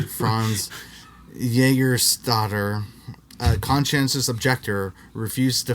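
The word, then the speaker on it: Franz Jägerstätter: The Austrian Franz Junkmeister, that's not how you say his name, Franz Jägerstatter, a conscientious objector, refused to fight for the Nazis in World War II.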